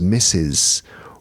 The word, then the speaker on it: misses: Miss becomes misses. Wash becomes washes. Finish becomes finishes. A tiny, beautiful syllable, like a raindrop falling into a pond.